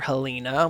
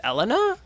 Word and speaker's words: Helena: But I'm pretty sure the proper pronunciation of Helena is Elena. Like that's like the proper French pronunciation.